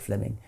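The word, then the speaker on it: Fleeming: was simply it's written in fleaming which is pronounced Fleming Fleming Jenkin was simply saying manifest facts are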